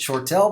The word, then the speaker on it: Shortel: notice the spelling there we pronounce it short tell but it's s-h-o-r-t-l-e dot